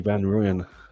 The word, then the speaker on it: Van Rooyen: very excited now about Willie Van Ruyan. I hope I pronounced his name right. Oh, you're saying it right. I think with with W's are pronounced with a V.